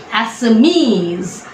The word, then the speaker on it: Assamese: ESC ending words will always take the accent on the right, last or in the first syllable from the right hand side. So therefore it's Assamese.